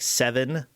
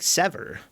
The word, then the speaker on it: Sever: You know, Sever is pronounced like 7. What? Yeah. What? Do I just say 7 then? Because I thought Sever was pronounced like Sever.